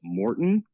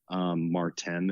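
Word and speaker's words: Maurten: and I'd seen advertisements for that brand they pronounce it Morton but it's spelled ma you are te n Martin is what it looks like their same looking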